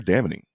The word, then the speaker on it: damning: Why Why are you pronouncing the N in damning?